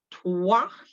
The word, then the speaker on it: trois: And again, we're not sounding that silent S at the end. So un, deux, trois.